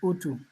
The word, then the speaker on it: utu: always good listening to um yeah and you pronounced the name right it's utu it means Humane in Swahili um now there's